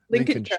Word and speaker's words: Lincolnshire: Lincolnshire.